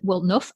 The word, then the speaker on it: Woolnough: looks a bit confusing it's just enough wool enough will to make a jumper which i thought was